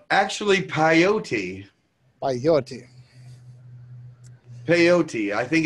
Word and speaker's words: peyote: Peyote. Peyote. I think it's pronounced peyote.